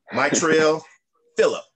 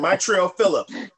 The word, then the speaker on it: Maitreya Philips: I'm with an amazing gentleman, Maitreya Philips. I say it right? You said it right. You said I said it right. I did it right this time. Maitreya Philips.